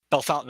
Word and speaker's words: Bellefontaine: was in Bellefontaine okay that that's how that's pronounced by the way Bellefontaine Ohio okay I grew up in